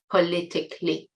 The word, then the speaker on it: politically: Notice again the pronunciation: Not 'kally', but 'kli'. It's 'politically'.